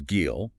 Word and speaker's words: גיל: The word is gil, pronounced kind of like wheel, but with a hard G.